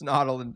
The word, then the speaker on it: Nautolan: It's Nautolan. I pronounce it. That's how the locals say it.